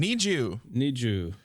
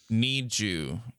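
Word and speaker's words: NiziU: The group's name, Niju. But it's spelled like Nizi you. Need you. Like need you.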